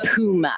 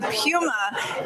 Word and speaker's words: Puma: It's not really a correction because it's so minor, but it's supposed to be Pew as in P-E-W as opposed to Poo as P-O-O. Okay. Apparently, that's what they tell me. So the Puma is another horse that's very workmanlike.